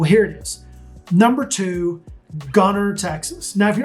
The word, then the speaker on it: Gunter: it is number two gunner texas now if you're not from here you might call it gunter but you don't pronounce the t the only people that say gunter are those that aren't